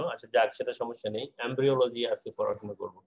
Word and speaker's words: embryo: এটার উচ্চারণটা আসলে এমব্রিও, আমরা যদিও এমব্রায়ো বলি কিন্তু বেসিক্যালি এর উচ্চারণটা কি এমব্রিও, এমব্রিও।